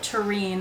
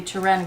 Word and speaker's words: Turenne: Some people call it Turenne. I've always called it the Turenne because that's how it's spelled.